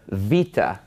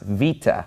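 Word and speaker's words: βήτα: Vita and of course if you're used to the Americanized pronunciation or the reconstructed pronunciation you you would know this as beta but it's actually pronounced Vita and it makes a sound like a V and Vita is basically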